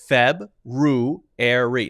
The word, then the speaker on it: February: So you could say February, Feb-ru-airy. Now notice that's clearly differentiating these two. Feb, clearly, ru, air, E, February.